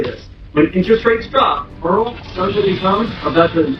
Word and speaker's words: IRRRL: But in the mortgage industry, we just say Earl, which stands for interest rate reduction refinance loan, pronounced Earl.